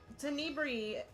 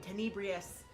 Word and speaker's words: Tenebri: I mean, it's Tenebri, like Tenebrous is easy to pronounce. It's just now I've been saying Tenebrious for so long.